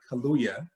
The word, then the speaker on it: Kaluuya: the movie, Daniel Kaluuya, say his name right, Kaluuya, plays Fred Hampton in just a remarkable way.